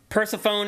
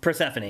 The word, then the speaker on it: Persephone: So anyway, these are pronounce all the letters in the ancient Greek stuff for some reason. Yeah. It's those E's want to be known.